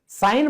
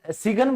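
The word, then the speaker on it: sign: अभियान campaign साइलेंट है हस्ताक्षर साइन बोलते हो सिगन बोलते हो सच्चाई बताओ मुझे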